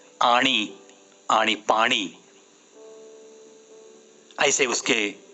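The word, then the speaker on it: आणि: मराठी की बात कहूंगा तो पीएचडी लोग मैंने देखे हैं जो कि जिंदगी भर आनी और पानी ही कहते हैं। मराठी में आणी, आणी पानी, ऐसे उसके प्रोनाउंसिएशन है।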